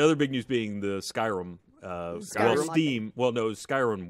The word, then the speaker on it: Skyrim: the same to you there's an ey in it think of like sky and then R there you said it right Skyrim you're making it sound like skrim scrim or like Skyrim scri it's Skyrim what okay yeah right